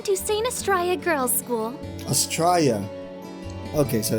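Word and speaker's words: Astraia: Astraea. Okay, so it's pronounced Astraea.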